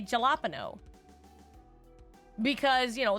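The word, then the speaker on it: jalapeño: especially Kairens, always say jalapeno because, you know, they think that the J is pronounced with the J sound instead of jalapeno.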